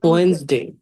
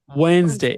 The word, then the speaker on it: Wednesday: Wednesday. Wednesday. ওয়েনসডে। এখানে যে ডিটা আছে, এই Wednesday. ডিটাকে আপনারা উজ্জ্ব রাখবেন না, এই ডিটার সাউন্ডটা করবেন না, তাহলেই হবে।